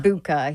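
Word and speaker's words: Egbuka: Ibuka, yeah.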